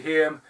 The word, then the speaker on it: Haim: Corey Haim, Cynthia Rothrock.